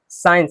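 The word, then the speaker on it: science: साइंस, यहाँ पे सी भी साइलेंट है और ई भी साइलेंट है, मतलब ये साइंस में 2 लेटर साइलेंट है, सी साइलेंट है और ई साइलेंट है।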